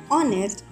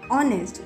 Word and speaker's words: honest: In words like r, honest, letter h is silent and the next letter has a vowel sound. So we will use an instead of a. कुछ words जैसे कि r, honest में h silent रहता